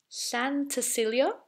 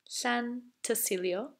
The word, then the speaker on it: Llantysilio: Now the second bit, Llantysilio. Easy. Llantysilio.